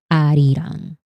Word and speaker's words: Arirang: Because Korean and Spanish pronounces A the same way. Yes, the ah, the ah sound. Arirang.